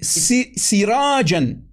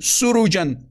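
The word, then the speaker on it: سراجا: But if we go to the Hafs version, Tapi kalau kita pergi ke versinya Hafs, we read sirajan. kita bacanya sirajan. Sirajan. Sirajan. Versus the Khalaf version, surujan. Dibandingkan versinya Khalaf ya, surujan.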